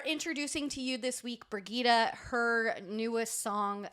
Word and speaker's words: Brigitta: for this one and I wrote down how to pronounce her name it's brigitta it's brigitta yeah I'm so proud of myself brigitta frigida I was gonna say brigetta but but then I saw her how she how you pronounce it so thank you